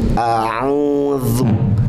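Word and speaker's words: أعوذ: Za, zi, zu, kemudian diapit dengan dua gigi seri. Ya, ya mungkin bisa dibilang digigit lah ya, digigit sedikit saja ujungnya. Za, zi, zu. A'udzu, a'udzu, a'udzu.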